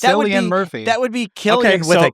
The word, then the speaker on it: Cillian: It's 100% Killian. It's not Cillian. It's Cillian Murphy. That would be Killian with a K.